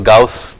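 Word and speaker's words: Gauss: हम कभी कभी गॉस भी पढ़ते हैं, जी ए यू डबल एस, लेकिन आई थिंक जर्मन में इसको गाउस के तौर पे प्रोनाउंस किया जाता है.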